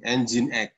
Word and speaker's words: Nginx: Nginx. Tulisannya nging, bacanya Nginx.